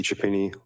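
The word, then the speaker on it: Chiappini: My name is Chapini. Last name is spelled C H I A P as in Peter.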